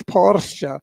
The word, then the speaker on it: Porsche: It's a German company. It's Porsche.